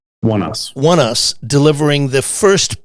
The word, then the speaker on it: Oneus: And I think it was the band, do you pronounce it One US? One Us.